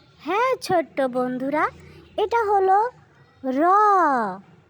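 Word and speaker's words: ر: হ্যাঁ ছোট্ট বন্ধুরা, এটা হলো র। জিহ্বার আগার পিঠ তার বরাবর উপরে তালুর সঙ্গে লাগাইয়া আমরা এটা উচ্চারণ করব। এই যে দেখো বন্ধুরা, একটু খেয়াল করে দেখলেই বুঝতে পারবে বন্ধুরা, তোমরা এভাবেই র উচ্চারণ করবে।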